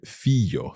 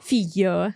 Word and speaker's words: figlio: And Silvia had a specific feature of Le Marche when it comes to pronouncing the y sound, which is pronounced as y instead. So she would have said figlio. Figlio, sì, or, sì.